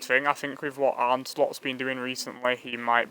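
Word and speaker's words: Arne Slot: I think with what Arnslot's been doing recently, he might be willing, or Arneslot, if you want me to be more pronunciant.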